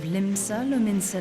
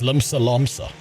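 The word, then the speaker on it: Limsa Lominsa: Such words well describe the manner in which the citizens of Limbsa Lummensa live their lives. She pronounced it wrong. It's Limsa Lomsa.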